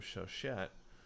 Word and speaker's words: Chauchat: As Hans Castorp once said to Madame Chauchat, I believe that's how you pronounce it, it's French, there are 2 ways to life.